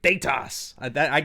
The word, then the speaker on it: Thaetas: Thaetas. You got to say it like that.